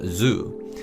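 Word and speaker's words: づ: The second character is pronounced as G, and the third character is pronounced as Zu. So in essence, they are pronounced exactly the same as G and Zu from Z row.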